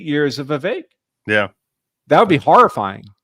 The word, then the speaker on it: Vivek: Vivek, like cake.